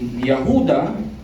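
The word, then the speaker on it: יהודה: Si Jude po ay gusto kong sabihin sa inyo, si Yahuda, yan ang pronunciation sa Hebrew, at si Yahuda ay nagpakilala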